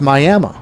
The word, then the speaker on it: Miami: Now there's Miami, Florida, but there is also Miami, Oklahoma, which is spelled the same way as Miami, Florida, but pronounced Miami.